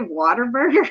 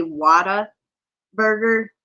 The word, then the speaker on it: Whataburger: Well, it's Wada, not water. I say it wrong. I always say water burger, but it's actually Wada burger. Like what burger?